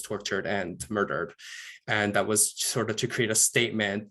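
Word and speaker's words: huaso: then he was tortured and murdered and that was sort of to create a statement that we will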